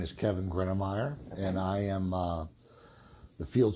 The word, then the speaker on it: Gruenmeier: We know you're with BRG and that last name that I'm too scared to pronounce. My name is Kevin Gruenmeier, and I am the field supervisor of the HVAC department.